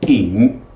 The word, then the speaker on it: 引: This is ying, third dipping tone. The Y you just ignore, so that's pronounced, yeah, the I as an E sound, ying.